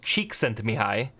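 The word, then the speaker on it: Csikszentmihalyi: you like that name it's pronounced cheek sent to me hi and he's kind of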